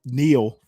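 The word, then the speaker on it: Niall: Um I actually like Nile Far. Oh, well, Neil Ferguson. I pronounce it now, but I think he pronounces it Neil.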